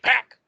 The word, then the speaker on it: Pac: It's Pac. You're supposed to say it all aggressive. Pac.